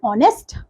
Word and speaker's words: honest: Yes, in R H is silent. So H is a silent in some words such as R, honor and honest.